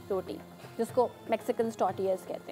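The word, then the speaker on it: tortillas: It's just a flat simple मैदे की रोटी जिसको मैक्सिकन टॉर्टियाज कहते हैं। और टॉर्टियाज इज़ a very funny word because इसमें जो टी होता है वो साइलेंट होता है।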